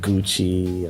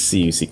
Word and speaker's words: Ciuci: Ladies and gentlemen, I give you Okay, I've heard all sorts of pronunciations. I've heard Gucci, I've heard Cucci, I've heard Ciuci, but it's Ciuci Consulting. So I hope this helps. I guess this is a how to pronounce Ciuci 101 lesson.